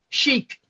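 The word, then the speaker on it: Sheikh: So, how do you pronounce his name again? Fosel Chic.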